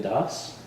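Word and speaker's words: Dasa: name is Das uh I spell it with it's spelled with a j a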